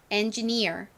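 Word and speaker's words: engineer: 있죠이 기술자님들을 엔지니어라고 부릅니다이 단어 역시 커리어처럼 가장 큰 강세가 뒷부분에 있어요 그래서 발음하실 때 여기를 좀 살려 주셔야 됩니다 따라해 보세요 엔지니어 한 번 더 해볼게요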